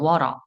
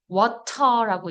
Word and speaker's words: water: water. 그러니까 R는 안 닿지만 water라고 이제 영국식 하지만 water 하면서 이렇게 닿아요. 원래 T 사운드 위치에 그러니까 혀에 닿는 R 사운드는 이 발음 기억에 플래핑 사운드라고 해요.